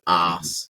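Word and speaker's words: arse: your behind a little bit more so we pronounce it a r s e so ass which sounds a little bit more British British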